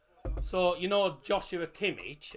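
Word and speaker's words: Joshua Kimmich: pronounced so you know Joshua kimich as people call him in Germany it's pronounced yua Kish y Kish for some reason a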